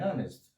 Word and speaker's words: honest: Mas os Hs iniciais em inglês podem ser simplesmente mudos, não ter um som. Então, nessas quatro palavras-chave aqui, our, air, under e honest, os Hs iniciais não